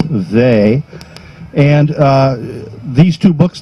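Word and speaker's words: Weil: discovered some years ago Simone they it's spelled w-e-i-l but it is they and uh these two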